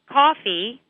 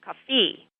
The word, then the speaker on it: coffee: And sometimes students stress the wrong syllable. So, for example, instead of saying coffee, students might say coffee.